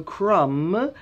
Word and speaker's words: crumb: So crumb is C-R-U-M-B, is a fine piece of bread that has fallen off the bread.